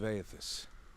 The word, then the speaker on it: Aethys: Aethys, that's how you say it.